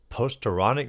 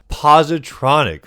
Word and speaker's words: positronic: And a new artifact, the uh Posteronic motherboard, if I'm saying that correctly. I could be butchering. Posteric postigos. Let's look how up how to say it because I actually do not know how to say whatever that word is. Is that even a word? Positronic.